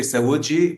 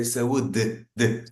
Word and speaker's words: saúde: So they say saúde, but in Portugal we say we are more like closed off. The words are more closed, so we say saúde.